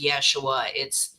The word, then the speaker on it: Yeshua: We learned that we have to go back to the Y's because it's Yasher, it's Yeshua, that's what's Hebrew about it.